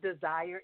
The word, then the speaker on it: Desir: Renee, it's Desir. The last name is like Desire. It's French. Actually, in French it does mean desire, but just the E is silent, so it's Desir.